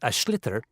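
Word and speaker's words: sliotar: basically you have to get this ball called ash litter that's SL IOT a or so it's not spells the way it's pronounced you his ears into the net for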